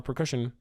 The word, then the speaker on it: procession: because there's a funeral procession. It's not a hard C, it's a soft C.